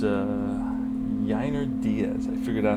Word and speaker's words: Yainer Diaz: And it's Yainer Diaz. Finally I figured out how to pronounce his name against Clark Schmidt.